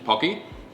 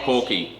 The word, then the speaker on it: Pocky: It's pocky, not porky. Pocky.